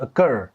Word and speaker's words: occur: كنت بقول على طول اكيور ولكن طلعت اكر اكر تاني اكر ما تقولش اكيور ولكنك واما دي فهي